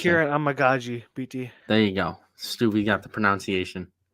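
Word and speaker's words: Amegadjie: Kieran Amagaji, BT. There you go. Stu, got the pronunciation.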